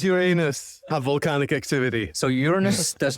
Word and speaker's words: Uranus: So many people pronounce it Uranus, but I think the proper way to pronounce it is Uranus, or Uranos even.